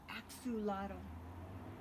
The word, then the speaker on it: axolotl: in case you're wondering my name is pronounced axolotl axolotl I better say that one again Axew lado I had no idea